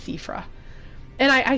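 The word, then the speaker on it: Siofra: Um it's a Gaelic spelling and I'm I'm actually quite bad at at those, but I think it's Sephra River. It looks like Chauffeur River, but it's Seaffra.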